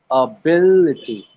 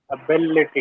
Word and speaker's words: ability: So I would break that word into small pieces. I would say and then I would say bill itty. Hmm. I would do that one more time. Ability. Ability.